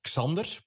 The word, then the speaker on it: Xander: I never know, like with Americans, because in Belgium, the X is a X klank, like my name. It is Xander. Oh, okay. Xander.